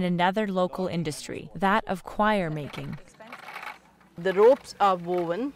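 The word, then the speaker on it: coir: local industry, that of choir making. The ropes are woven especially by the women who live along the coast. So this fiber that's taken by this... Choir is spelled C-O-I-R.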